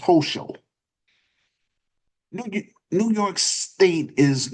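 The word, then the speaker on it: Hochul: I think it I think it's pronounced Hoso.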